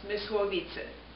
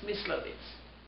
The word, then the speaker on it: Mysłowice: I was born on July 1930, in the city of, in Polish it would be pronounced Mysłowice. In German it's Mysłowice.